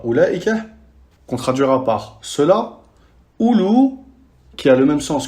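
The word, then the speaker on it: أولو: Ulaika, le ism ishara ulaika, qu'on traduira par cela, ulu, qui a le même sens que sahib, et ulat, qui a le même sens que sahibat.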